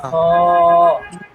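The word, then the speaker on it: خ: এরপরে হলো হা খ হ বলেন খ হ্যাঁ খ হ হ হ খটা মোটা হবে খ উচ্চারণটা মোটা হবে ওই জন্য খ খ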